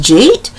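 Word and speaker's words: j'eat: goes j apostrophe e a t and it's pronounced jeet and that is when you go out driving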